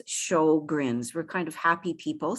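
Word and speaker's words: Sjögren's: of swedish background but for those of us who speak primarily english we would pronounce it as show grins we're kind of happy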